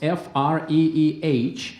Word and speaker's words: Freeh: more questions for your last name spells f-r-e-e-h the pronunciation is free would you drop the